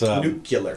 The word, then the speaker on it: nuclear: Well, the other one was the mispronunciation of the W did. Was nuclear.